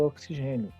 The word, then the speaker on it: oxigênio: nessa palavra em específico a letra x tem este fonema aqui ó escrito como se fosse com cs porque sai a a